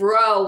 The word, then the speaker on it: rho: And then we have rho, which I was telling you about the RH, but it can vary. Once you get to reading, like I said, you'll want to pronounce some kind of without the H, but just like with the R.